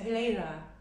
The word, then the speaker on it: Helena: My preference is Helena. Helena. Yeah. Okay, awesome. And am I pronouncing that correctly? Yeah, of course. Yeah. Helena?